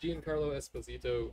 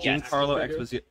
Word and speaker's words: Giancarlo Esposito: Is that the first Giancarlo Esposito? I didn't say his name right at all. Giancarlo Esposito.